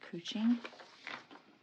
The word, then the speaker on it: couching: couch like c u c h but it's pronounced cooing so you can find those on Amazon but